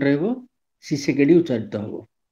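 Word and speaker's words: Tshisekedi: এস ই কে ই ডি আই টি টা silent রইবো সি সেকেডি উচ্চারিত হব টি সি এইচ আই এস ই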